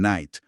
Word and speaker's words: night: Y lo mismo pasó con otras letras que hoy son mudas, pero antes sí sonaban, como la K en night o la W en wrong.